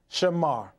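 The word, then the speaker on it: שָׁמַר: week we documented that the Hebrew word for keep is spelled from right to left Shen m r pronounced Shamar and we validated that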